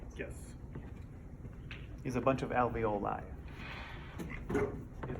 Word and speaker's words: alveoli: Is a bunch of alveoli.